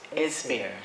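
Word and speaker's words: Esbjerg: know with it with the port of is is beer it's how they pronounce it being the leading port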